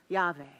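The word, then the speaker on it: Yahweh: right now that is the Hebrew word for God sometimes pronounced yave and you see four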